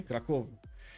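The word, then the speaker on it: Kraków: Defensive tactics also in 3, while MNC is mentioning stress on the first syllable in Krakow. Okay, Krakow.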